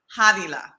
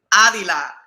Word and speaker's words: Hadila: trying to call me Adila, and I'm like, No. El nombre mío se pronuncia con the H, the English americano, el H americano, Hadi and Hadila.